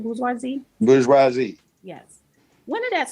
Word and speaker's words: bourgeoisie: Bourgeoisie?